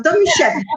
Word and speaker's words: Domisiewicz: So Domisiewicz is the right way.